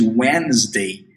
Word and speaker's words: Wednesday: Wednesday, preste atenção na pronúncia de Wednesday, que a gente não pronuncia o D, a gente vê o D ali, mas ele não é pronunciado. Olha só, Wednesday.